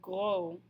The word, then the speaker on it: gros: next grouping we have fat is grow grow note that we're not pronouncing the final s grow becomes gross we